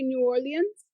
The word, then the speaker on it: New Orleans: you say it again how do you say New Orleans New Orleans New Orleans yeah awl awl awl